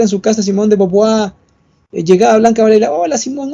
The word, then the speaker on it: Beauvoir: Aunque claro, dice Beauvoir y se pronuncia Beauvoir.